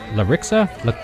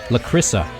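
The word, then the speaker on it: Lakrissa: Larissa? Lacrissa. I think I've been pronouncing this name wrong all this time.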